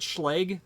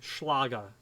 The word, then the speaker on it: Schlage: Well, it's properly pronounced in German, Schlage. That's the proper way to pronounce it in German.